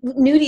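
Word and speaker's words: Noodi: And Nudie is spelled N-O-O-D-I, but there is a play on the word Nudie, and it's kind of also...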